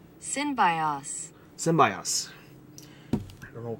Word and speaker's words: Synbios: So it's pronounced Synbios.